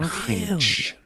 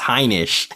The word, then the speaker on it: Heinisch: I'm going for Ian Heinch. So disrespectful. No, you guys are both disrespectful because it's pronounced Heinisch.